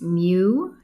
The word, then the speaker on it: mu: a u shape uh the way I'm pronouncing this Greek letter it's mu m u and it